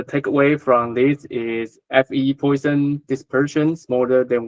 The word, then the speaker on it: Poisson: The pronunciation is Poisson, please. Don't say Poisson, say Poisson, because there is Poisson also like model poisoning. So it's the French pronunciation, so it's Poisson.